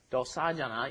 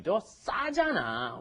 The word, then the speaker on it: 싸잖아: And be careful on that pronunciation. You don't 더 싸잖아. You have to do 더 싸잖아. Okay, you've got that double shit in there, and they're pointing out something.